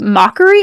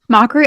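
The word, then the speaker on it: Macquarie: I'm going to guess it's called Mockery Island. M A C q U A R I E. Mhm. Mockery Island, which is located between Tasmania and the Ant and Antarctica.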